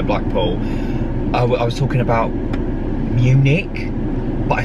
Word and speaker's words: Munich: the way to blackpool i was talking about munich but i said i couldn't pronounce it because i never said it out loud so i said monic and the people next to me were like